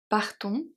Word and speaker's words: partons: Partons à la plage. So the S in partons is silent and the E at plage.